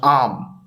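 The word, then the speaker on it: आम: cannot read Hindi again this word is pronounced arm in Hindi that means mango or dinary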